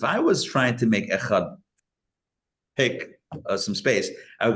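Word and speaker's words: אחד: prolong the Dalet, but provided that he does not hurry the pronunciation of the letter Chet. So which one is it? What's going on here? So you prolong the Dalet, but you can't swallow the Ches.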